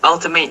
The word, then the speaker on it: Altimate: So is it Ultimate or Altimate, guys? It's Ultimate Nutrition. Okay. Which represents the alternative source of nutrition. Wow. All right. Very nice. Ultimate.